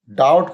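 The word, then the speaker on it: doubt: डब्लू नहीं पढ़ते हैं डाउट पढ़ते हैं बी नहीं पढ़ते हैं डाउट नहीं कहते डाउट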